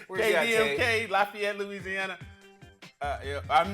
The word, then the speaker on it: Lafayette: Lafayette, Louisiana.